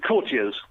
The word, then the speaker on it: courtiers: Is it courtiers or courtiers? It's courtiers.